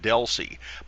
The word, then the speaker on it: DLCI: We pronounce that DELC.